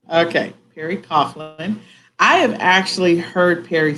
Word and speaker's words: Coghlan: uh we pronounce it Coughlin like there's a u in it Coughlin okay Perry Coughlin I have actually heard